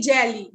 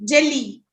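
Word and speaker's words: jeli: for griot is jelly so it's better say jelly jelly jelly okay okay am I right am I writing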